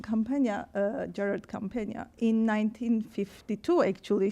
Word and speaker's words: Campagna: She mentioned that Campagna, that's how we pronounce it, Campagna, Gerard Campagna, in 1952, actually, she graduated from a history program here.